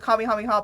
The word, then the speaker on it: Kamehameha: Okay, at least you can hit people with a Kamehameha. But I will say, do you want to know how people pronounce it?